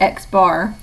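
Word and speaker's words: x̄: going to be noted with an X and a bar over it and we pronounce that X bar and the population mean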